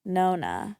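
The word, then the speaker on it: nonna: I feel like I'm saying it wrong, but Nona and No-No? it's definitely Nona.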